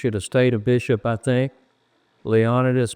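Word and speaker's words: Leonidas: a bishop I think leonus poke and I understand his family pronounces it leonidus and uh Gideon pillow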